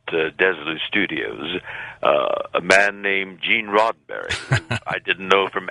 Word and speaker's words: Roddenberry: I mispronounced his name. I called him Mr. Rosenberry, and he, in turn, also made a mistake in pronouncing my name.